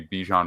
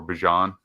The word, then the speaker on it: Bijan: is going to be Bijan Robinson or Bajan I believe is pronounced now I understand um